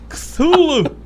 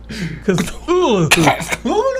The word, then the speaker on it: Cthulhu: Lovecraft recommended that Cthulhu be pronounced Kuth, followed by Ulu. Ulu! There's a hooting exhalation. Ulu! Cthulhu! Cthulhu!